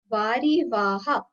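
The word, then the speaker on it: वारिवाह: Vari Vaha. It's a long A.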